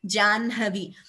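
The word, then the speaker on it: जाह्नवी: Similarly, Janhavi, though we write it as Ja, Ha, and Na, we pronounce it as Janhavi.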